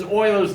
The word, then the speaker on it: Euler: Which is Euler's number.